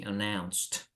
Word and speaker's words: announced: to pronounce like uh the then the ending is like a strong T sound right so we say announ anoun yes instead of seeing announce it you see announced announced okay yes other